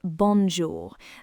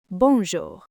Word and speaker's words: bonjour: Let's start with bonjour. That on sound is what we call a nasal sound.